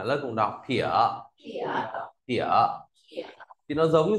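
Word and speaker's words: 撇: Tiếp theo ta viết nét phẩy nào, nét phẩy âm mình viết là phiệt, đọc là thỉa. À, lớp cùng đọc thỉa.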